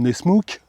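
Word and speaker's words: Nessmuk: Et sa lame de forme un peu bizarre, de forme Nesmouk, c'est comme ça que ça se prononce.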